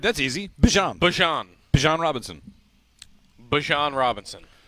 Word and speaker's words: Bijan: How you pronounce my name is Bijan for everybody that's out there. I know a lot of people say Bijan, but it's Bijan.